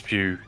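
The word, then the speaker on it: Pugh: name uh Pew Florence pew pew yeah it's pronounced Pew right Florence Pew and I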